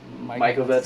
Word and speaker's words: Mikovits: I know we had a recent discussion about Mikovits.